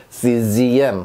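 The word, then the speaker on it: sixième: czm 합니다. 자, 지읒 발음.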